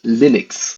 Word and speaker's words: Linux: and I pronounce Linux Linux hello this is Linux and I pronounce Linux as Linux like it's lus but you pronounce it Linux cuz there was that